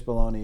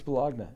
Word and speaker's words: bologna: shit, but they said you start pronouncing us baloney or we're going to press whatever. But I don't think they're going to do anything, but it's Bologna in this household, man. It's Bologna, you know that.